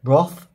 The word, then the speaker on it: wrath: wrath yes all right wrath is that not how you say it roth i think it's rock if you're in the uk and rap if you're american oh okay i think